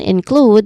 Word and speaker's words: include: When it comes to pronunciation, include, the first word has two syllables. We stress on the second syllable here. The first syllable is a soft in, which is a short E vowel sound, and then include, which has a long U vowel sound.